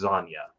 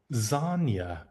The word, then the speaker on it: Zanya: hear how the guy who created the character pronounces the name. It's Zanya. Zanya.